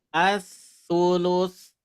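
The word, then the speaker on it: الثلث: As-sulus. As-sulus. As-sulus. As-sulus. Hati-hati pengucapan sa ini ujung lidah ke ujung gigi ya.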